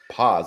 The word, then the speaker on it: Paz: I'm doing good, and I realized we just met, so you wouldn't know, Yeah, but my last name is pronounced Paz. pause.